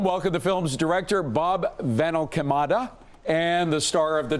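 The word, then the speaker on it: VanAlkemade: I'll start with you because I probably destroyed your last name pronouncing it. It's Rob Finelada, but Rob is good.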